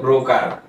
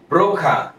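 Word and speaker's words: broker: দালাল আমরা যেটা শিখেছি তা হলো ব্রোকার সঠিক প্রোনাউন্সিয়েশন হলো ব্রোখা এর সাথে যদি আমরা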